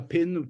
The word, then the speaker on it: pin: say to my students, if you say the English word pin, like a pin to prick with, P-I-N, if you put your hand in front of your mouth when you say pin in English, say pin. I want to see you guys doing it. Say pin, pin. Yeah, can you feel that breath?